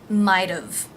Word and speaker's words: might've: been nice might have now the t here is going to be pronounced as a flap t so it will actually sound like a d might've might have i might